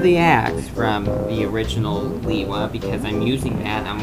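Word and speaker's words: Lewa: here uh or or Lua or Lea whichever way you want to pronounce it I pronounce it Lea since that's how it was pronounced in the movie bionical Mask of light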